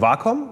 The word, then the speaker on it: Wacom: betonungsweisen des Begriffs wom es heißt tatsächlich wom weil es ist ja eine japanische company japanische Firma und die Vorsilbe war steht tatsächlich für das Japan den japanischen Begriff Harmonie und das war auch